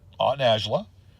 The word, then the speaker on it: Najla: Najla, who was my aunt Najla, is the way you pronunciate her name.